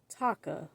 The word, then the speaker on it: Taka: he was called scar taka at first I thought they said Tucker like it threw me off the way they pronounced it um he fights to